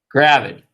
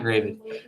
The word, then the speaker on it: gravid: i make that uh that's a that's that's a short a right for all you linguists out there crap gravid okay not graded well i won't get